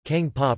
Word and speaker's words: Kaeng pa: Kang tae Kang PAH pronounced kPa grave lit forest curry or jungle curry